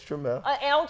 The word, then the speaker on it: Trammell: You're right, it's Trammell.